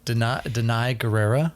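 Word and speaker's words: Danai Gurira: Denai Guerrera?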